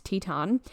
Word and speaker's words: Teton: way I did not know that's how you pronounce Teton but anyway only to discover that there is